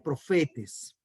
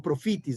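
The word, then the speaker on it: προφήτης: palabra está en griego, profetes o profitis, de acuerdo a la escuela de pronunciación griega que usted tenga.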